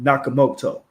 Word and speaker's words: Nakamoto: Nakamoto.